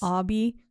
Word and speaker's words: Obi: Spelled Obi. Obi, yeah, right? That's why I was like Obi, but it's Obby. But he pronounced it Obby.